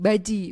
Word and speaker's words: bazi: Baji. Baji namanya baji. Tulisannya bazi gitu tapi bacanya baji.